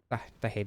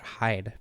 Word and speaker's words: Haid: Also, I always pronounced it Hyde, but apparently the Crestfallen guy, I don't remember his name, Crestfallen Warrior or whatever, specifically says Haid, so I guess I'll be saying Haid from now on.